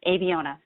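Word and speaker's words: Abeona: tried to fill out phonetically uh that it's pronounced a b owner aviona and this name selected by our ceo roman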